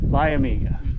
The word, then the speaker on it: Liamuiga: Liamuiga.